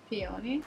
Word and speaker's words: peony: get like poo poo for how do you pronounce it what's it called and i'll tell you peony yeah peony is it yeah um i just really wanted